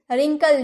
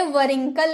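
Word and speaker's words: wrinkle: हम रिंकल बोलते हैं वंकल नहीं बोलते रिंकल बोलते हैं क्योंकि आर के पहले डब्ल्यू आया है तो रिंकल यानी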